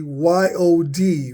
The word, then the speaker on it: yod: from the Greek the is supposed to hold the Y sound as the yod so this should be y o d for yod not J